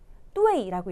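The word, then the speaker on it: duì: 자, 2번 얘는 뚜웨이라고 읽히죠. D-U-I 사성으로 읽히니까 정답은 2번.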